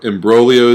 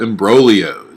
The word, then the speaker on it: imbroglio: mesh together but there they are called imbroglio right what a great word that is silent G word and so in Brolio